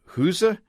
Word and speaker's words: Gueuze: Recently, he did a short series on brewing Gueuze, or I think he pronounces it at times something like Gueuze.